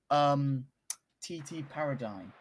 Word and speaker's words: TT Paradigm: It's pronounced TT Paradigm.